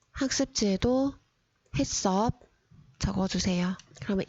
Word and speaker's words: HACCP: 이거를 읽기 어려워하는 학생들이 많아서 어떻게 읽어야 하는지 보겠습니다. 햇습 혹은 햇섭이라고 읽고요. 학습지에도 햇섭 적어주세요.